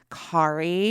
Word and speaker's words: Kari: No, sorry, your name's not Kerry. It's Kari.